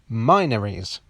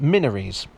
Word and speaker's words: Minories: gate which i pronounced minories commenters were quick to point out that it's actually pronounced minaries you know like mina or minority many were outraged that